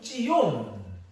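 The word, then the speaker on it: ציון: 근데 이 빗자온과 비슷한 발음이 뭔가 하면 시온인데 시온은 찌온 이런 발음이에요. 그러니까 빗자온이나 찌온이나 이 발음과 단어가 굉장히 비슷한 거예요.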